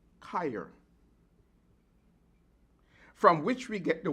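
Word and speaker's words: cheir: But the word when you say lay hands ans in the Greek is let me spell it c h e i r chair but it's pronounced kyer from which we get the word chiopractic.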